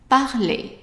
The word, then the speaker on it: parler: Parler. Parler. And make sure that you don't drag the A at the end. It's not parler, it's parler. So the emphasis is more on the pa.